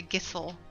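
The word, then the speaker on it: Gysahl: need to get more gishel greens or sorry gissel apparently is the correct pronunciation all right I'm gonna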